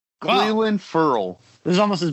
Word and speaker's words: Clelin: I can't figure out how to pronounce it. Cleland? It's Cleland.